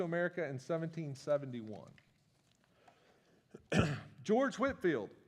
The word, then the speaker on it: Whitefield: in 17 1971 George Whitfield spelled Whitefield pronounced Whitfield uh 1714 to 1770